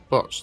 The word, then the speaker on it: Bocce: We just finished off our eating and realised there's I don't know how to pronounce it, Bocce, B-O-C-C-E, what's that? B-O-C-T-E. What? B-O-T-T-E. B-O-C-C-E. What is that? Botch.